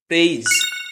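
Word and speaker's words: praise: face নয় উচ্চারণটা কি হবে ফেইস যেমন আরেকটা উচ্চারণ হয় পি আর এ আই এস ই এটাও কিন্তু প্রেস নয় প্রেইজ কিন্তু কেন জানা আছে ঠিক আছে না জানা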